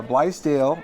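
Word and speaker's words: Blaisdell: And And of course, uh, Blale, and that's the pronunciation.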